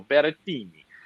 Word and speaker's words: Berrettini: Second favorite is actually, I was a little surprised by this, but it's the Italian Matteo Berrettini.